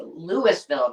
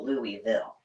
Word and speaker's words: Louisville: Oh, so yes, Louisville, not Louisville. yes, yes, we like to pronounce all the consonants in Nebraska.